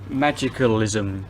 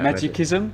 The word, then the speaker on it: Magicalism: Magicalism. Yeah. Magicism.